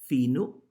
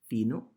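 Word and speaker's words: fino: We have finu, right? Finu, spelled with an O, but it sounds like a U, finu.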